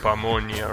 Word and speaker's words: pamonha: If it's Portuguese, I will bet that it's pronounced pamonha, right?